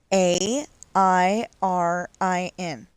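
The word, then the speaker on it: Airin: Because you know when you're when you're reading Aaron, it's air in, right?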